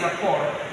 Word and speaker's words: rapport: So we don't say rapport, we say rapport.